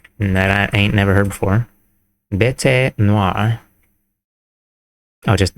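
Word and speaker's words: bête noire: ain't never heard before, bet noir. Oh, just bet noir. You don't pronounce the E.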